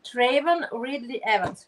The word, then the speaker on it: Travon Ridley-Evans: But for now, it's just first of all, I would like to be sure that I pronounce correctly your beautiful name, Travon Ridley-Evans, right?